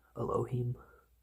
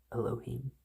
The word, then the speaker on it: Elohim: Starts with an A. Elohim. Elohim. E or A. You can do both.